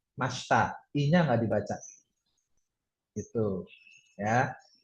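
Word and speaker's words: ました: Masta itu enggak dibaca ya. Kalau dieja emang masita tapi dibacanya masta.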